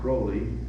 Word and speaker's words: Crowley: Cults or aliser Crawley he liked to be called Crowley doesn't rhyme with holy but I won't give him